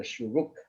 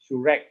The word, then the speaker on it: shuruk: okay so this is what you call the shuruk okay sure like i mentioned just now it